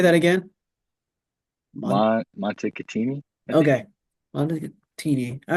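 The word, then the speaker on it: Montecatini: in dude I can't remember I can't even pronounce it all right well W definitely didn't go to turn Montini that's it say that again Monte katini okay montei all right so it's not it's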